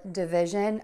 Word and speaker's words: division: so we have multiplication and last for division again schwa syllable I'm sorry schwa sound first for that first syllable duh and then stress vi zhun division so we have addition